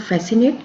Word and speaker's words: fascinate: Fascinate, even if C is not here, this is giving the full sound fascinate, so C is silent here.